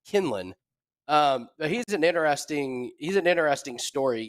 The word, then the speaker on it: Quinlan: Josh, I believe he pronounces his name Kinlan.